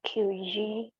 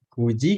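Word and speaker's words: 九時: 9 itu dibacanya ku. Kalau Ku. di jam ku ya.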